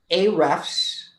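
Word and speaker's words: Ahrefs: you come and you listen to us so a refs which is spelled a a-h-r-e-f-s is a tool that you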